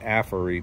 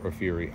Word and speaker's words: AFERIY: by the QR code aury I've also heard it pronounced apery but I prefer a fury I don't think they